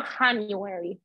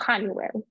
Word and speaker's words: January: twice January January okay remember J in English January you know January no no no no no no no no not Honeywell January okay February February okay